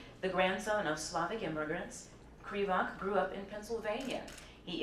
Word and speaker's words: Krivak: Well, our first author won our fiction prize, and that is Andrew Krivak.